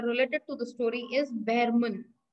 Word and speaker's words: Behrman: the main character related to the story is Behrman. Pronunciation Behrman.